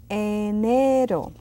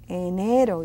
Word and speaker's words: enero: So it's enero. Enero, it's a long E.